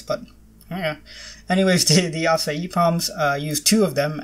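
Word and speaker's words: açaí: say palms and the I didn't know they were pronounced that way I thought they were a KY palms but yeah anyways today the acai palms use two of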